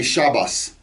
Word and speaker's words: Shabbat: sects of jews who pronounce the t sound at the end of a word as an s you'll hear it in shabbat they'll say shabbas or brit they'll call